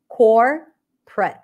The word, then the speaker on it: corporate: have two schwas but in many cases where you have three syllables and the middle syllable is awah you may reduce the middle syllable completely like memory Family Restaurant so same thing here corporate corporate and this is how I would say it core PR so no o whatsoever and here that would